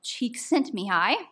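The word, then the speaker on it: Csikszentmihalyi: Flow is one of these and flow um is a concept that an American psychologist called cheek sent me is how you pronounce it.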